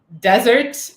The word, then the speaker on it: desert: Henry is commenting back on what we were talking about pronunciation, is the difference of pronouncing desert and dessert, right? That's right. The stress is different.